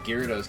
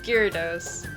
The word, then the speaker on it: Gyarados: wrong i was like the japanese which is where it came out first it was gyarados but growing up i always heard it as gyarados but i know that